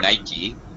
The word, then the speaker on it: Nike: uh yeah also notice my pronunciation of Nike as a two syllable word uh I know this